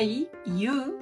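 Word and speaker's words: ゆ: no se utilizan y el tip de pronunciación es que lo digan más como una y u más que como y y vale Yu aquí alg nos propone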